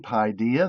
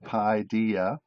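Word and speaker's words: παιδεία: see on the screen PI dia there's the Greek word and the English pronunciation of it PI dia and what we're going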